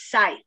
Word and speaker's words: scythe: How do you pronounce it? S-C-Y-T-H-E? Scythe. Scythe. That thing I guess you cut hedges with is right. or something? Yeah, scythe is right.